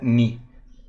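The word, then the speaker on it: ν: que he dicho antes ni es una letra griega esta frecuencia aquí indicado se pronuncia ni ni su 1 será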